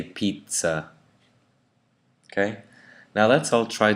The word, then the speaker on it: pizza: So we don't say pizza, we say pizza.